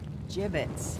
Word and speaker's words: gibbets: here dead-end Hey look if we had some gibbets leftover jib it's what it's pronounced jib 'it's are you sure yeah